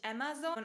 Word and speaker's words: Amazon: du das wahrscheinlich bei Amazon. Ja, genau. Viele Deutsche sagen immer noch Amazon. Zum Glück ist es viel weniger geworden und die meisten haben verstanden, dass man es eigentlich Amazon ausspricht.